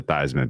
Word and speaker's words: Theismann: He was Joe Theismann growing up, and they changed the pronunciation to Theismann because it rhymed with Heisman.